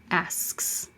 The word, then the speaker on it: asks: Ask is voiceless, so it's the voiceless S. Asks. It's a weird SKS combination. Asks. I keep the airflow going until I stop it with the K. Asks. And I let the airflow go from the K, and back to the S.